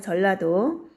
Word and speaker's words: 전라도: 라고 지었습니다 그 다음에 전라도 전주에 전 나중에 나 이나 짜 난 뒤로 가게 되면 라 로 발음이 되죠 그래서 전라도 라고 합니다 그 다음에 충청도는 충주의